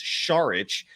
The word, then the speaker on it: Šarić: You actually do enunciate the start of his last name with an SH sound, so it's Šarić. But Dario Šarić, 6'10", Rayvon adding to that in the chat.